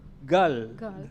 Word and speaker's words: Gal: And because Gal, when for me the valley, Gul or Gal or the V, I have in my mind, it's pronounced more Gal than anything else.